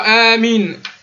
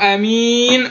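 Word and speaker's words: آمين: Soit Amin en prolongeant les deux vocalisations, soit Amin en ne prolongeant que la dernière.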